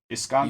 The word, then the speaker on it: Iskander: And so she's sent to replace the old guy whose name I say is Yiskander. Iskander.